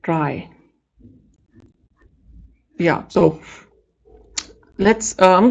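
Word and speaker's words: trie: I kept pronouncing it tree. I found out that it's not a tree. You call it try.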